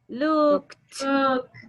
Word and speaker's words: looked: Looked. Haga el sonido, Noah. Looked. Ah, ok. We don't pronounce the letter E. No vamos a pronunciar la E. Es el sonido, la ED se convierte en T.